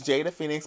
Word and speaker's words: Jada Fenix: So my Facebook is Jada Fenix, but it's spelled phonetically. Okay. Which, for some of you hoes that don't know what that means, it's spelled the way it sounds.